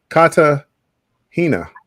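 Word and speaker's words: Cartagena: in col Colombia K cahina will G is gonna correct you I know K Kata Hina that's how you say it so bill is your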